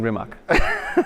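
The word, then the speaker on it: Rimac: products and rimax products I'm saying it kind of half correctly it's it's rimat isn't it rimat yeah it's a creational way of pronouncing remach okay so tell me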